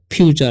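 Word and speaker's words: future: इसे हम फ्यूचर पढ़ेंगे, इसे फुट्योर मत पढ़ना, ठीक है ? हमने इसे फ्यूचर पढ़ा, ठीक है?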